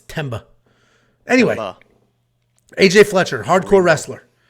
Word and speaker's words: Themba: Picks I can't say themba without thinking I have like a swollen tongue or a lisp somebody said the answer is silent no I think the H is silent it's temba anyway AJ Fletcher hardcore